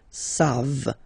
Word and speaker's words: savent: You don't pronounce it, so you get the sound savent.